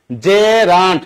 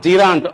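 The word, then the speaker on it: gerund: উচ্চারণ কি? জেরান্ট। নট জিন্। আপনারা ম্যাক্সিমাম এখানে ভুল করেন জিরা জিরা বলেন কোন জিরা টিরা এগুলি দিয়েন না ঠিক আছে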